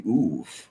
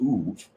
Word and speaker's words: Ob: word for them, and they were called the Uv, O-B, but it's pronounced Uv, and it's a Canaanite word, and it means revenant, one who returns.